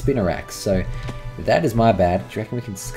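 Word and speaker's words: Spinarak: I don't know why I've always called it Spin Arc. It's Spinnerak. Um, it's just something. It's like when I was a kid, when I first read it, I read it as spin arc. And I just always pronounced it as spinner arc. Spin arc until I properly read it. And it's spinnerax.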